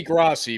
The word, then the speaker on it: Grossi: So this is, I guess, a Tom Grossi. I apologize if I've butchered this 20 times. Ray. All right, it's got to be Grossi because Grossi rhymes with posse.